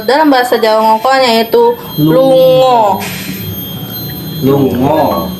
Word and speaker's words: lunga: Nah, pergi ini kalau dalam bahasa Jawa ngongkolnya itu lungo. Lungo. Tulisannya lunga, tapi bahasanya lungo bacanya. Ya.